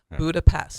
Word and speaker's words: Budapest: call it today but how would you pronounce Budapest well uh since I'm not a psychopath I'd say Budapest well you're an English-speaking non psychopath all right okay we'll go with that all right because we'll we pronounce the S sound s yeah but in Hungary they pronounce the S as an S that's just crazy so you will hear hungarians say budapes okay so if you